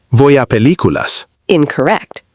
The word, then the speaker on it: película: especially with película. Some learners stress the wrong syllable. Natural pronunciation sounds like película.